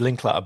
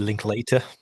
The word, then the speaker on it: Linklater: in on Richard Linkl I've always said Richard Linkl but before I did this uh I I